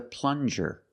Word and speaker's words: plunger: This is a plunger. Plunger. Use the regular N and the JJ- sound like juice.